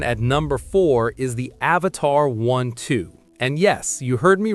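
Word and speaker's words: Avatr 12: Coming in at number four is the Avatar 12. And yes, you heard me right. is pronounced Avatar12.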